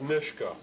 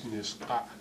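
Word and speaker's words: Nisga'a: this way, N-I-S-G-H-A, and what they're attempting to do there is to spell the way they pronounce it in their own language, their name for themselves, which is Niska, Niska, Niska.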